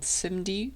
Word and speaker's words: SIMD: two very powerful Concepts the first is called simd that's how you pronounce it or how most people tend to